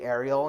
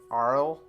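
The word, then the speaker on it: Aryll: I always say Ariel instead of Arl, like how it's supposed to. It's spelled Arill. It's really weird.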